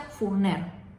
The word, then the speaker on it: Forner: de valencia luego está el origen del apellido forner forner tanto en catalán como en valenciano significa panadero y se pronuncia furner la pronunciación correcta del apellido es Así que